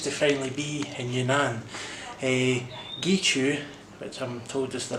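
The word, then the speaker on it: Guizhou: Gichu, which I'm told is the right pronunciation, it wasn't a disappointment.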